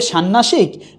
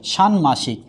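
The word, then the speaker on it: ষাণ্মাসিক: আছে ন উচ্চারিত হয়েছে কারণ কখনোই মূর্ধন্য উচ্চারণে আসবে না সবসময় কি আসবে দন্তন্য তাইলে দন্তন্য মূর্ধন্য সাথে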